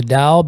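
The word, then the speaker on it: Tao: never heard of the Dao because it's called Daoism just like Catholicism or uh any other religion um some people are dsts and um da is is spelled with a t by the way if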